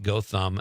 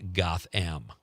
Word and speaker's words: Gotham: It's pronounced Gotham, not Gotham. Boy, you really riled some people up tonight, Connor. Gotham. I'll never pronounce it the other way now. Monica from Mount Horeb says Gotham is kind of by Richland Center, but I believe they say it with a hard O.